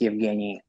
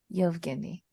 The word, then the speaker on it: Evgueni: Yeah, the U is silent. It's just Evgeny. Yevgeny? Yevgeny.